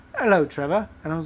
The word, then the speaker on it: Trevor: My name is spelled with an O-R at the end, yet people from other countries like to say Trevor. Trevor.